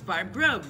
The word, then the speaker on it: Grobe: I'm just kidding, it's Barb Grobe, rhymes with lobe.